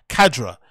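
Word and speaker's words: Khadra: Kadra.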